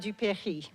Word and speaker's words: Dupéry: Livingston Honors Prize in Francophone Studies to another extraordinary student, my student, whose name I will say with the French pronunciation to honor his family's Franco-American heritage, Zachary Richard Dupéry.